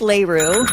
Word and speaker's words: LaRue: LaRue. That is Leroux. Oh, All right, LaRue. I thought it was LaRue.